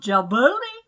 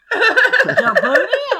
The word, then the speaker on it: Djibouti: We all just learned from my mom that the D is silent in Djibouti.